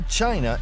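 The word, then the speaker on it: Qin: the Chinese word Chen it is spelled q i n but it is pronounced as Chin Chin was the name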